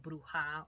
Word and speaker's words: bruja: word bruex which is it comes from the word bruha or bruo which would be the Spanish way to say which however which is not